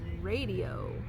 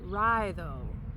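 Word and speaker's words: Raidho: This one is called the radio. Oh, I'm sorry. It's pronounced rhyo and it's rune number five.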